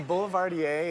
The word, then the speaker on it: Boulevardier: Now, you made for me today a Boulevardier. Yeah. Am I pronouncing that correctly? Yes, a Boulevardier is an amazing classic cocktail.